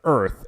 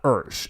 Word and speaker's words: Earth: to convince signalman that it is pronounced Earth and not urge and of course this